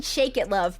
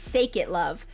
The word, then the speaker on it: Sake It Love: Is it Sake It Love? Or, because it sounds like he's singing Shake It Love, but it's obviously not. It's Sake It Love.